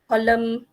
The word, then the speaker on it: column: and then we have silent and Autumn column and Silent L salmon